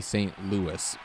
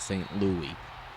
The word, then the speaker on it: St. Louis: curiosity, because we had discussed the Rams leaving St. Louis. Yes. Is it Louis or Lewis? It's officially St. Louis, but sometimes people will call it St. Louie.